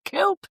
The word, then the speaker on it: coupe: How to pronounce coupe. Cuz it's actually coupe.